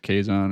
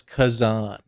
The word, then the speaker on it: Khazan: Is it Kaison or is it it's Kazan Kazan? That's how they say it.